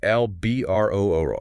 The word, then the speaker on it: Albuterol: Pronounced Albuterol.